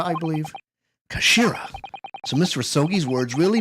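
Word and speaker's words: 頭: end of the hilt it's written as head in Japanese but it's pronounced as Kashira I believe Kashira so miss rasogi's words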